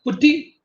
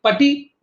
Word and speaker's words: PuTTY: download so you know we in india we call it putty but i have seen outside people they call it pati but whatever it is you know be careful with that pronunciation otherwise you know it